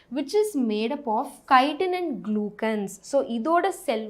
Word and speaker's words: chitin: நிறைய பசங்க I have seen them pronounce it chitin. chitin கிடையாது, chitin, KI-ன்ற மாதிரி ப்ரொனவுன்ஸ் பண்ணும், ஓகேவா?